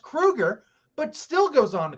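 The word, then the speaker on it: Kroeger: much about Chad Kroger he knows that it's pronounced Krueger but still goes on to call him Kroger because we learned that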